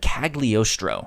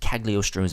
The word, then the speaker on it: Cagliostro: So I wanted to dive into Lupin the Third, The Castle of Cagliostro, I believe is how you pronounce it.